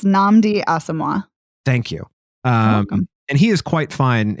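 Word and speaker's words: Nnamdi Asomugha: a former football player that's our lead it's namdi asima thank you um and he is quite fine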